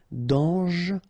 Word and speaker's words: dangereux: Dangereux. Final X not pronounced. And then don't really pronounce this here. Okay, so you get dangereux.